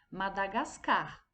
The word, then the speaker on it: Madagascar: b traz o seguinte qual é a pronúncia dessa palavra no segundo quadrinho madagascar então quando nós falamos madagascar a sílaba mais forte foi o carro